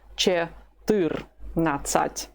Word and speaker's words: четырнадцать: Keep pronouncing it with the stress on the second syllable. Четырнадцать.